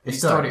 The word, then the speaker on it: Historia: You don't even pronounce the H. Because that's not how Spanish works. Historia. Historia.